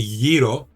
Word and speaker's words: gyro: In Greek, we say gyro, but that's the correct pronunciation.